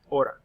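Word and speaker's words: hora: the LA in front remember the H is silent La Ora the next one down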